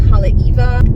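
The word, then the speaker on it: Haleiwa: You have Halaiwa as Halaiva.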